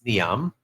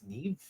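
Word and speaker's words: Niamh: is going to playing from I see a Neeve um now you know uh what's curious about this name um Chief I've always been saying it's Niam but it's I think it's islandic or uh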